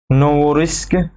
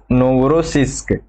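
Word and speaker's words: Новороссийск: ये देखिए, एक है ये नोवोरिस्क बंदरगाह, ठीक है, नोवोरोसिस्क, ठीक है।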